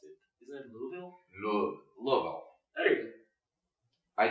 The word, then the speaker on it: Louisville: Didn't they get another that's the wrong way to pronounce it? Isn't it Louisville?